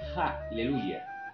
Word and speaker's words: Haleluya: yo acabo de decir haleluya h con h que se pronuncia como si fuera una J Aleluya bien pero usted